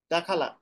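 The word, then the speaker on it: دخل: দাখালা। দা খলা, হ্যাঁ, খয়ের উচ্চারণে হয় দাখলা। না, দাখলা।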